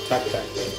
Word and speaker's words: Tak Tak: So what is the name of this place? Tak-tak. And it's spelled T-A-K-T-A-K. So in Polish, it would be, yes, just like that.